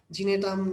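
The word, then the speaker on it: Gnetum: আচ্ছা, আর একটা মাত্র এক্সাম্পল আছে যেটা ব্যতিক্রম, সেটার নাম হচ্ছে নেটাম। ঠিক আছে, জিনেটাম, নেটাম যেটা উচ্চারণ করো, নেটাম মনে রাখো।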